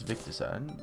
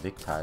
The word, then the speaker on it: Victide: And I've been calling this Victicide. I don't really know why I call it Victicide. It's like Victide. Pronounced Victide or something like that. Or spelt Victide.